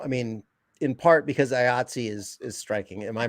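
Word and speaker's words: IATSE: all relative now i mean in part because ayatsi is is striking am i pronouncing that right yep yep which is the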